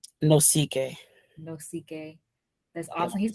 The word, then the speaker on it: Nosike: anthony how do you say your last name no ck no ck that's awesome he's from nigeria guys